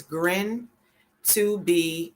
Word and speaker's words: GRIN2B: was called um grin to be that highly pronounced it's called yes it's grin to be related developmental disorder okay that's a lot yeah